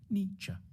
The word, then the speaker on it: Nietzsche: to pronounce his name the first bit should sound like knee the second like cha nietzsche then we need to